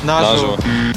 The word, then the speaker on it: наживо: вас збило з пантелику як ми там його вимовляємо наживо наживо наживо наживо наживо усе ж таки наживо коли щось у прямому